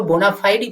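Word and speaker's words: bona fide: उसी तरह से हम लोग देखिएगा बोनाफाइडी, इसको बोनाफाइडी पढ़ेंगे, ना कि हम लोग इसे पढ़ेंगे बोनाफाइड। हालांकि अमेरिकन वे ऑफ प्रोनाउंसिएशन में हम लोग इसे बोनाफाइड भी पढ़ सकते हैं, लेकिन हम लोग क्या है, ब्रिटिश इंग्लिश को फॉलो कर रहे हैं।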